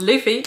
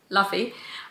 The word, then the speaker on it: Luffy: now know that is called Luffy instead of laughy I actually find that kind of funny that me who's usually like how is this uh persons and how is this writers or characters name pronounced just completely mispronounced that throughout the entire video this was 26 minutes